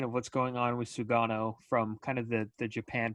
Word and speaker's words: Sugano: Tomoyuki Yuki Sugano is the name that Yeah, you everybody's nailed it.